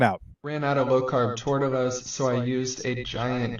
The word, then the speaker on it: tortilla: Some flour and corn tortillas.